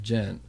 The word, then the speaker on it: djent: figure of of of jent but uh and it's spelled djent t just so everybody knows I'll tell you what